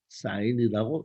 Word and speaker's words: sin: 가지가 있습니다 자 사인은 사인은 원래 영어가입니다 sin 그래서 앞에 세 글자는 따서 sin 이렇게 적고 읽을 때는 사인이라고 읽습니다 그다음에 코사인 이죠 앞에